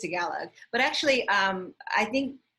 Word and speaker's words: Tagalog: chinese japanese vietnamese and togolog and i hope i pronounced that last language correctly yeah i think it's tagalog but actually um i